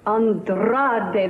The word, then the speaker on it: Andrade: Andrade, that's right. You must roll your R's when you say it all the time now.